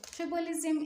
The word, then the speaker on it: tribalism: the first part and go on and stress the first syllable which is tribe okay let's go on